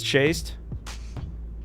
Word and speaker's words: chaste: Or is that pronounced chaste? I think it's chast, right? Chaste. Either. Chaste. It's chaste. Just like the pig was chased around with a pen with his many friends that he played with.